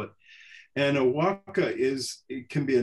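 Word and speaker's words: huaca: sacred places is h-u-a-c-a is the way we spell it and a walka is it can be a natural formation it's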